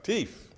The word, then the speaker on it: teef: You know, that's how we used to talk. So that's how you gotta spell it. You can't say thief. We don't say thief.